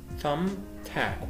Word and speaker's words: thumbtack: طبعا التي اتش بنطقها ث thumbtack والبي هنا سايلنت مش بنطقها.